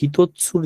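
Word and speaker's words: ひとつ: একটা লাঠি আর সু তাহলে এটার উচ্চারণ হবে হিতৎসু আচ্ছা আর ই কোথায়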